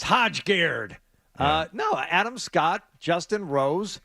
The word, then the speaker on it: Højgaard: I mean, Noren and Højgaard are big stars. Højgaard. Well, how do you pronounce that?